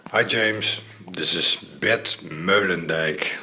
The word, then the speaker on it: Meulendijk: Hi James, this is Bert Meulendijk. So that's the way it's pronounced, Bert Meulendijk. But if you say Bert Mullendijk, it's fine with me also. Okay, man.